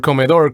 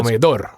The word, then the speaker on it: comedor: So that's where the word comedor comes from. Okay. And the sounds like you're putting the accent on the last syllable of comedor. Yeah, it goes on the last syllable, on the O. So comedor.